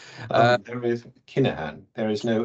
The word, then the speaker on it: Kinahan: I hope that's the right pronunciation. There is Kinahan. There is no F in my name and in my surname. Kinahan, yes.